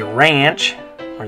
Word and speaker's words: rancho: Okay, so anyway, in English we'd say ranch, or the A would make an ah sound, ranch, but in Spanish it makes an ah sound. The A always makes an ah sound, so in Spanish you're going to say rancho. So in English you say ranch, in Spanish you say rancho.